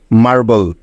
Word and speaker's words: marble: এবার দেখো বাকি আছে BLE, এই তিনটি বর্ণ যার উচ্চারণ শেষে থাকলে হয় বল, তাই তো? তাহলে মার এবং বল যোগ করলে হয়ে যাবে মার্বল।